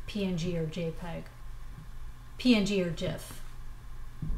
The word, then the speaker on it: GIF: or jpeg png or jiff gif is pronounced jif so i'm looking here